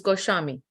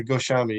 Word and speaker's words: Goswami: make sense so probably even though that the word goswami has SW but it still pronounces goshami that's and if if